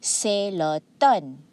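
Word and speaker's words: automne: have say the word the letter m here is silent okay the m is silent you see celeton all right mean it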